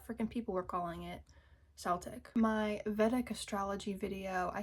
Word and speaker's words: Celtic: Also butchered pronunciation of Celtic. I called it Celtic like with an S instead of with a K.